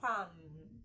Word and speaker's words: palm: Are you aware that the L in palm is silent? It is not palm, palm, or whichever way you pronounce it.